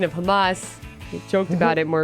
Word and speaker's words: Hamas: Now, how do you pronounce that? Hamas.